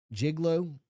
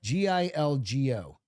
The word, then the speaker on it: Gilgo: G jiglo. How do you spell it? G i l go Gilgo.